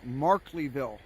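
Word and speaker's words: Markleeville: if you want to see the laces it's pronounced markleyville that's right and they evacuated that town earlier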